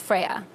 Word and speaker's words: FRYA: a Greek goddess yeah it's actually originates from Greek mythology so it's actually pronounced Freya so yeah hmm and